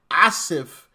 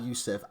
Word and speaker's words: Aasif: Let me let me make sure I say this correctly. Aasif, not Yusuf, Aasif Merchant uh basically